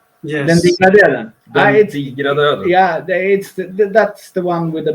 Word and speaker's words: Den digra döden: I can pronounce good. Dina Dogra, the very Swedish song with weird letters. Yes. Den digra döden.